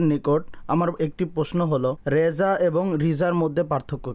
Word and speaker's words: রেজা: প্রসঙ্গে সম্পূর্ণ আলোচনা রয়েছে মূলত এটার মধ্যে মতানক থেকে যায় রেজা ও রিজার মধ্যে। অনেক আলেমগণ দ্বিতীয় শব্দটিকেও প্রাধান্য দিয়েছেন। আরবিতে সাধারণত রিজাই পড়া হয়।